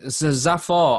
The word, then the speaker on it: Zafar: just it just sounded Zafar I would pronounce it as zafa and it's just a bit like Jaffa so it's just Jaffa